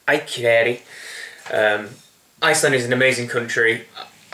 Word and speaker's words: Akureyri: I would call it Akureyri, but it's Akureyri.